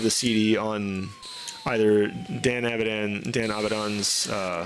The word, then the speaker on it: Avidan: CD on either Dan Avidan, Dan Abdon's uh I'm trying to say his name right. It's Abdon.